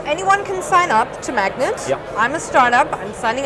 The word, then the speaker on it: MAGNiTT: he's the founder of magnets and it's not quite spelled like the magnet but it works the same way so you remember the